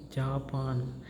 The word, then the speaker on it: Japan: not be pronounced as Japan. In Germany it will be pronounced as Japan, right? Ja means it gives the pronunciation of ya, right?